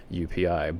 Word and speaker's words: UPI: And they also say rewards come in the form of universal pet income, or UPI, but they pronounce it as UP according to their website.